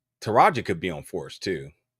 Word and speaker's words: Taraji: Taraji. Did I say it right? Taraji.